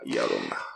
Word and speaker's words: Llorona: When you have two L's, it makes that U. Yeah. Yeah. Llorona.